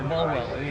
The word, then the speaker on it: Bolwell: Bolwell, yeah.